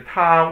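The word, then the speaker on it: 她: And then there's a ta with the nü zi pang. That means a woman. Ta, it's pronounced the same way.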